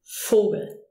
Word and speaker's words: Vogel: But most of the time, it's a F, as in Vogel.